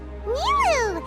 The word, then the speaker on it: Nilou: Nilou!